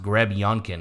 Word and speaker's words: Grebenkin: Grebenkin. Yeah, it's interesting because as of like 2 years ago, it was spelled and pronounced Grebionkin, like Greb Yonkin, Yonkin. Yonkin. Now it's Grebenkin, like Grebbenkin.